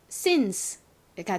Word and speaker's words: since: 자, 그리고 끝에는 이가 왔는데요. 대체로 영어 단어의 가장 끝에 이가 오면 그 이는 별다른 소리가 나지 않죠. 그래서 이 단어를 읽어보면 since가 됩니다.